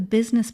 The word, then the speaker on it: business: The women discussed the business plan while eating chicken. Women, business, and chicken all have that reduced E vowel sound that sounds like an I.